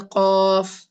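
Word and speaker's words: ق: The next letter is the qaf. So if I'm writing the letter qaf in English, how is it pronounced? The qaf in English, it will be Q-U-A-F like this. Qaf. It is a heavy letter.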